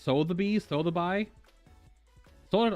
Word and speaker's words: Sotheby's: mannequin was sold at sotheby's auction house in 1993. that's pronounced so the bees throw the buy sold